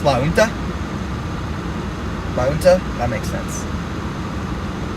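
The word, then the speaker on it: La Junta: at right now so Jay and Utah silent so it's La winter that makes sense like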